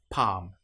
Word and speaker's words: palm: An example might be palm. In this case, the L you will notice is not pronounced at all. Palm or calm.